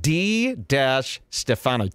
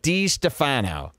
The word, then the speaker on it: DiStefano: It's pronounced D-Stefano. DiStefano.